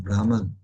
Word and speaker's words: Brahman: So Brahman, it's pronounced Brahman.